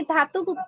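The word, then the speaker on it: Datuk: তো ওনার নামটা হচ্ছে দাতক ডক্টর লিম সিওজিন। দাতক doctor Lim সিওজিন। এই যে দাতক বা হচ্ছে অনেক লিডারও হচ্ছে এটাকে ধাতক উচ্চারণ করে থাকে। তো হয় ধাতকও বলা যায়, দাতও বলা যায়।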